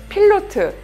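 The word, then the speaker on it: Pilote: 1959년 프랑스의 필로트, 그러니까 영어로 하면 파일롯이라고 하는 그 스펠링인데 필로트라고 하는 매체에 올라가 있던 연재 만화예요.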